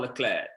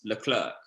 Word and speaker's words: Leclerc: It's Charles Leclerc, not Charles Leclerc, which would be the English way of saying it.